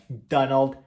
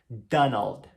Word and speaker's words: Donald: Pato Donald, então é Donald Duck, Donald, Donald. Presta muita atenção na forma da pronúncia do L, Donald, e o finalzinho do D, com som de D mesmo, Donald, Donald Duck.